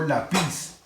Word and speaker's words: lápiz: la regla me dice tengo que primero buscar la sílaba tónica yo digo lápiz o lápiz digo lápiz quiere decir que la sílaba tónica es la penúltima ay me doy cuenta